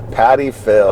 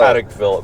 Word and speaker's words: Patek Philippe: Patty Phil. Okay, Patek. No, I'm just Philip. teasing. Okay, Patek. is that better? No. Patek Philip.